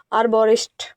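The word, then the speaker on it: arborist: इसकी जो प्रोनाउंसिएशन है हिंदी में लिखी गई है आरबोरिस्ट। इसको बोलते हैं आरबोरेस्ट और इस वर्ड को हम दो सेगमेंट में डिवाइड कर सकते हैं।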